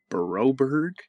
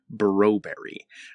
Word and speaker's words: Broberg: podcast as well, and every time David Staples says Philip Broberg, he pronounces it as Philip Broberry.